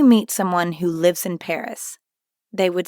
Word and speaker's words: Paris: you'd simply add a Paris at the end foreign notice how the S at the end of Paris is silent again bahi Baki jabit